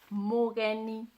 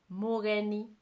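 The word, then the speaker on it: mũgeni: one person, one guest, this is how you say it. Mogeni. Mogeni. Mogeni. Mogeni, one guest. Ageni, many guests. Mogeni, ageni. Mogeni, ageni.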